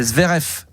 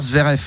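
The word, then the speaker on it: Zverev: Alors le V se prononce F. C'est Zvf. Ah pardon. Alexander Zverf.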